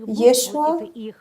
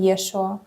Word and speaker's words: Yeshua: En ese tiempo su nombre se pronunciaba como Yeshua porque ciertas letras no existían en su idioma. Por eso lo llamaban Yeshua.